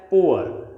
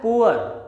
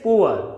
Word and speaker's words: poor: For example, it will be pronounced as poor. Don't pronounce it as poor. It is poor, not poor.